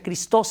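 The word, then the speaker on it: Χριστός: En griego, Cristo se escribe Christos, y se pronuncia Christos en griego.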